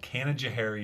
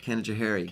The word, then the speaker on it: Canajoharie: little town about 50 miles from here called Canajoharie New York Canajoharie Canadair I kind of had a feeling like